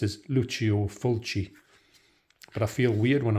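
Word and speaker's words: Lucio Fulci: Fulcy because when I first heard about him, Lucio Fulcy, that was the way his name was explained to me. But I know he's properly pronounced as Luchio Fulchi.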